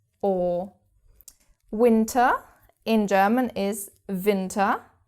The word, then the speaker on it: Winter: winter in German is winter. So it's written in exactly the same way as you can see but we pronounce the W differently.